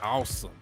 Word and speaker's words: Asim: So, Henny, Asim is pronounced awesome.